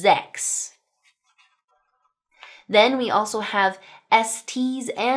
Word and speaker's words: sechs: Now specifically at the beginning of words, 's's in German will make 'z' sounds, such as the number sechs (6) (zecks).